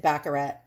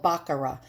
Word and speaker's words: Baccarat: this is baccarat glass or baccarat and i pronounce it baccarat because i'm a new yorker and we pronounce a lot of things wrong but it's really called baccarat and baccarat glass is very very expensive and